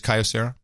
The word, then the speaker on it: Kyocera: of these devices and this is a Kyocera or Kyocera how you pronounce it pretty big company so I like touts Kyocera it is Kyocera yeah now I think